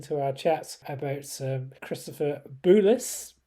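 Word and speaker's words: Bulis: And he sent us an email saying that he's been listening to our chat about Christopher Boulis. And he sort of says that is how the surname is pronounced, and says that Chris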